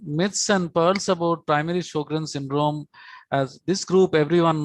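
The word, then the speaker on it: Sjögren: and they told that this is how sj is pronounced like sh so this is how sjogren's should be pronounced as shogrin second myth is most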